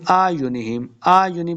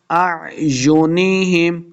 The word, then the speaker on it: أَعْيُنِهِمْ: عَلَىٰ أَعْيُنِهِمْ نہیں پڑھیں گے، پہلا حمزہ دوسرا عین ہے، دونوں کو حمزہ نہیں پڑھیں گے. بعض لوگ پڑھتے ہیں آیونہم پڑھیں گے تو غلطی ہو جائے گی، تو ہم اس کو تلفظ کے ساتھ ایسے پڑھیں گے.